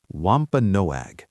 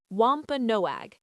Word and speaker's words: Wampanoag: Wampa Noag. That is a beautiful name. How do you say it again? Wampa Noag.